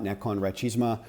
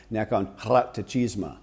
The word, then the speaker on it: Nakhon Ratchasima: the province of Kolat, Nakhon Ratchasima. I'm saying that, I'm mangling that horribly. How do you properly pronounce Nakhon Ratchasima? How do you say it properly? Fun? Nakhon Ratchasima. Yeah, see, I'm way off.